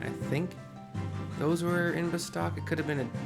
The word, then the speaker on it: Bastok: I usually start a character in the city of Bastok, or Bastok, however you want to pronounce it. Bravo, A, Sam, Tom, O-K. Bastok is how I pronounce it. And outside of Bastok is North Gustaberg, South Gustaberg, etc.